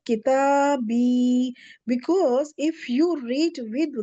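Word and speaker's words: كتابي: You try kitabu and attach the ja. Try to pronounce ja with kitabu. You can't. You can't really. So because of dhamma and ja, we can't pronounce them together.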